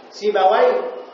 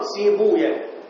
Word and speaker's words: سيبويه: سيبويه أو بالضم سيبويا. تمام؟ نفطويا، درستويا. فالمحدثون على الضم، يعني المحدثون لغة المحدثين يقولون سيبويا، نفطويا، درستويا. أما الأمويون فيفتحون الواو، يقولون سيبوي، نفطوي.